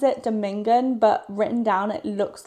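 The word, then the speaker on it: domingon: And also, I'm confused cuz on the audio book he pronounces it Domingan, but written down it looks like it would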